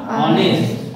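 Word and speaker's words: honest: It is a consonant, but its pronunciation is not like a consonant. Its pronunciation is like a vowel.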